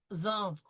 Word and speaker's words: entrent: J'entre, tu entres, elle entre, nous entrons, vous entrez, elles entrent.